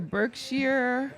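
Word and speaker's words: Berkshire: ping ping pong oh it's called the birk Shear oh yeah that's wealth yeah yeah she anything spelled with a s sh i r e sh wealth yeah they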